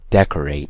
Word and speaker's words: decorate: So decorate, not decorate, okay?